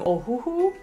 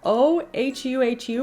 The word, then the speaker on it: Ohuhu: I'm for sure gonna pronounce this wrong. Ohuhu. Yeah, O-H-U-H-U, Ohuhu.